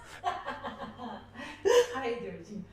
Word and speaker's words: hydrogen: Hydrogen hydrogen. Yeah. Hydrogen. Hydrogen. Yeah. The the accent is at the beginning. Okay. With the H.